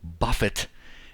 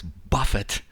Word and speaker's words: buffet: Finally, I have a chance to redeem myself and say it correctly. So he has Buffet, his wing attack. Of course, you know, before I was saying buffet, just to draw attention to the fact that he was giving us a taste of his wings.